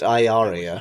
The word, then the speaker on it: Ilaria: Pronounced Iaria.